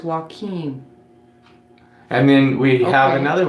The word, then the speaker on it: Joaquim: Tubular Guy 9 says, I guess he's telling us how to pronounce the name, Joaquim. Oh, Joaquim, okay. Okay, thank you, Tubular Guy 9. So it's Joaquim.